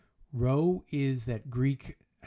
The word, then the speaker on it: rho: Rho is that Greek... Rho is how you pronounce that Greek character that looks like a P that's been in a car accident.